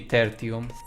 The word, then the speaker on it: Tertium: Let us make haste for Tertium. Technically, it's Latin. So, it it would be terium. I'm pretty sure that is the correct pronunciation.